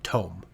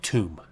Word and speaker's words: tome: I always just called it Tomb, which is obviously not right because Tomb has a B.